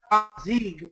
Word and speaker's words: Amazigh: It looks like it's spelled Amazigh, but it's Amazigh. The G has R sound. That's how they do it.